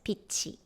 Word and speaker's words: 빛이: And the next one, tiut followed by zero consonant, then you will pronounce it as 빛이.